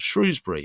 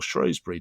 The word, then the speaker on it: Shrewsbury: And then last summer, Mike and I made a film about the Battle of Shrewsbury, or Shrewsbury, depending on how you want to pronounce it. That is a live issue in the UK.